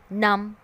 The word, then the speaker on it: numb: Because in these words B is sitting next to the letters M and T.